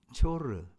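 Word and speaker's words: צוֹר: 심판의 말씀이 기록되어 있습니다 두로의 원래 히브리적 어 그 발음으로 보면 조르 조르고 하는데 이것은 반석이란 뜻에서 유래되었습니다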